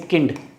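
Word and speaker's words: Kind: जैसे किंड, किंड मतलब baby, किंड। अब इंग्लिश में ये क्या वर्ड है, इंग्लिश में ये सेम स्पेलिंग होती है, इसका मतलब काइंड, बट जर्मन वर्ड है किंड, इसका मतलब बेबी, बच्चा, चाइल्ड।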